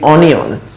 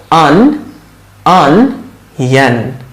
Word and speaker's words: onion: অনিয়ন, আচ্ছা এটার প্রোনাউন্সিয়েশনটা আমরা ভুল করে বলি অনিয়ন, কিন্তু এটার কারেক্ট প্রোনাউন্সিয়েশন হচ্ছে অনিয়ন, অনিয়ন, অনিয়ন, অনিয়ন, এরকম অনিয়ন, অনিয়ন, অনিয়ন।